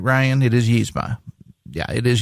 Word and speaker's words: Yzma: It is Yzma. Yeah, it is Yzma. Yeah, it's Yzma. Yzma. That's how I was raised to pronounce it.